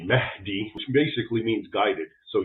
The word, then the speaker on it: Mahdi: Islamic expert Raymond ibraim so the Mii as as an English speaker would pronounce it it's really Mahi which basically means guided